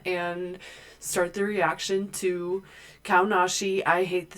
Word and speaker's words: Kaonashi: Name pronunciation. Kaonashi. Kaonashi.